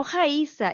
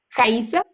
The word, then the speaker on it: Raíssa: Jaiza, qué nombre más curioso, se escribe con J, ¿verdad? Jaiza. No, menina, con R. Aquí en Brasil, la R la decimos como J.